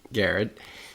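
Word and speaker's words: Garrard: The first news story is actually about them, Garrett County, which for everybody listening, it's actually spelled Gerard, but it's pronounced Garrett County Distilling.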